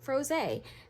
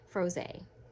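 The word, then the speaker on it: Frosé: with it and this one is called grapefruit froze froze that's how you pronounce it and the notes in this are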